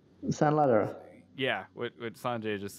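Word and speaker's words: Sanladerer: San Ladera.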